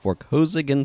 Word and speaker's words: Vorkosigan: Wow, I kind of mispronounced that. Vorkosigan Saga.